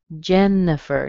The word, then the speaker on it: Jennifer: Jennifer. Notice you don't hear the I. You're going to be tempted to see that I in there and say Jennifer.